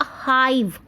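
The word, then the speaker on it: hive: इसको बोलेंगे अ हाइव, हाइव, अ हाइव ऑफ बीज, अ हाइव ऑफ बीज, ओके। हिव नहीं होगा ये चीज़ आपको ध्यान रखनी है।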